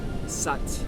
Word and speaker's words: Sat: Sat rhymes with but, Sat, S-A-T, Nam, N-A-M, rhymes with mom. So it's the inhale, sounds like Sat.